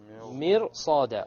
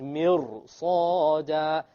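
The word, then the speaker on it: مرصادا: Okay, now look at this ra over here. This ra is silent, and before it is a kasra. Okay, so we said generally it will be light. Mir. But now we find that after the ra is a sad.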